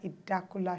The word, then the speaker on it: Idakula: one of the major organizers she is Lydia idakula sh tell me I pronounce that right you did y well done